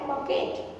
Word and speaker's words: bouquet: Okay, उच्चारण होता है बकेट.